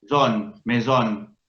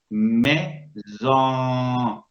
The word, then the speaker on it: maison: Esta O no suena como la O del español. O, mesón. No, suena maison, zon. ¿Qué pasó ahí? Como muy bien dijo Mónica, se vio afectada por una nasalización.